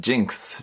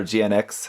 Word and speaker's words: GN-X: Hey guys, today I'm going to be unboxing the Premium Bandai HG Build Fighters Accelerate Jinx. Jinx, or GNX, however you really want to pronounce it.